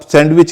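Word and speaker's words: sandwich: सैंडविच, जब bread के बीच में कुछ डाल के आप बनाते हैं, सैंडविच कहते हैं। सैंडविच के अलावा इसका एक और उच्चारण है, सैंडविच। सैंडविच है, सैंडविच, सैन और विच, सैंडविच।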